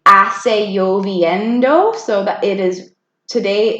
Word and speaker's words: lloviendo: And then those two L's, do you remember what sound the two L's make? Yeah. Lloviendo. Say, hoy hace lloviendo.